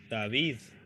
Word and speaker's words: David: So, as you see, what you have to do is to try to get rid of the English pronunciation, okay, of David, whatever you are thinking. It's like, no, I have to think in Spanish. And in Spanish, words are pronounced as they are written.